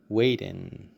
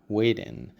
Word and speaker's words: waiting: like it or not it sounds like a soft D so we say weiten weiten another important rule here